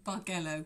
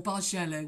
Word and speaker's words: Bargello: how you pronounce that, B-R-G-E-L-L-O. Bargello, or Bargello, whichever you like. Bargello, Bargello, Bargello. I think it's one of those either words.